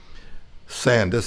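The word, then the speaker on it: Sandys: up by edmund sands sandus s-a-n-d-y-s apparently they didn't say that why if he said sand you know the british pronounce things a little different you know two countries divided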